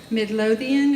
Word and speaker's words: Midlothian: Finally, English subtitles on original Halo Waypoint content, like Midnight in the Heart of Midlothian, is that how you say it?